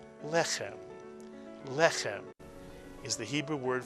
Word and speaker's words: lechem: to accent a word, if the word is not accented on the last syllable, as most Hebrew words are, some prayer books and some texts actually indicate where the accent goes with this vertical line, telling you that the accent is on the first syllable, lechem.